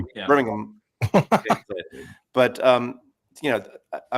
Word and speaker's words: Birmingham: And I've learned you got to say it like Birmingham. You don't say Birmingham. You got to say it with without the H. Birmingham.